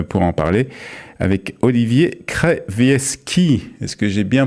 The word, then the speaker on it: Krawiecki: et nous sommes pour en parler avec Olivier Krevieski. Est-ce que j'ai bien prononcé?